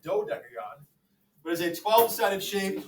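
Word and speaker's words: dodecagon: do deagon uh D deagon is a mispronounced mispronounced do deagon but is a 12-sided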